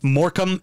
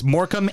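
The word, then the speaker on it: Morecambe: And Morcambe is spelled the same suffix. Yep. Morcambe. It's Morcambe, and they have a shrimp on there.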